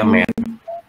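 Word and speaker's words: mère: Yang lain mer ya, M-E-R-E. Bukan mer. Mer.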